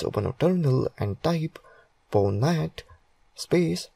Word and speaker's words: Pwnat: Pwnat, pronounced as Pwnat, is a tool that allows any